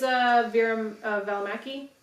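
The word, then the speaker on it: Vera Välimäki: Fisher Lady is Vera Valimaki. Yeah. Oh, And- you pronounced it so beautifully.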